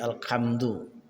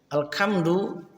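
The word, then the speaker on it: الحمد: Alhamdu menjadi alhamdu. Level kesalahan saud atau pelafalan huruf. Alhamdu segala pujian. Alkamdu, alkamadu itu segala kesedihan yang disembunyikan.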